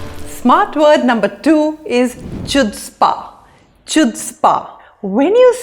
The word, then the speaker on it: chutzpah: in a positive way Chutzpah rhymes with foot spa Roy had the chutzpah